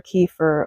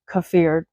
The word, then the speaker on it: kefir: today I will be showing you the process of making water kefir or kefir. Some people pronounce it different ways.